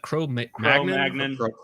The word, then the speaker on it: Cro-Magnon: How do you pronounce that? Cro-Magnon? Oh, it is Cro-Magnon. Okay. I don't know if it was like filet mignon or Cro-Magnon.